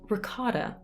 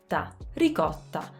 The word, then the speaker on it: ricotta: we say ricotta ricotta the sounds are completely different again the flap t doesn't i mean the sound exists in italian it's the the r but we use it for t's or d's so what for us is a flap t is basically the italian r oh of course the